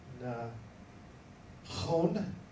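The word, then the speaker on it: נכון: Next is, noon with the kamats, that's the first syllable, Mhm. and kaf with, holam malay, Yes, so that's gonna be O, and then nun safit, Mhm. known, that's gonna be na, chon, na chon, nachon, nachon, yeah, nachon,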